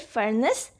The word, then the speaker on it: furnace: the first is fernas we write for nas but we say it furnace with the short a sound second is necklace again